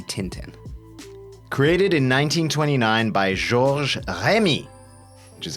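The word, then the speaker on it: Georges Remi: Created in 1929 by Gor Remy, which is how it's pronounced properly, better known as Tintin or Tan became a worldwide star.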